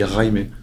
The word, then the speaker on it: Jaime: Donc tu prononces le R et tu dis Jaime.